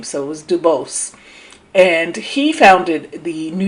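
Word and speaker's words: Du Bois: uh and I believe he didn't he didn't like the French pronunciation of his name so it was Duos and he founded the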